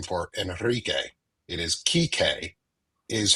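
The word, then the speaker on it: Kike: It is Kik is how it is pronounced.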